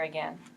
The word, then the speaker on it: again: couldn't put Humpty together again it wouldn't be again again kind of sounds like men doesn't it all the